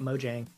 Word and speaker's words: Mojang: to look at them Mojang how do you pronounce that I call it Mojang because I'm an American but thank you for